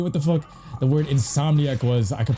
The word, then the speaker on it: Insomniac: I never knew what the fuck the word insomniac was. I could pronounce sucker punch, naughty dog, but I used to say insomaniac.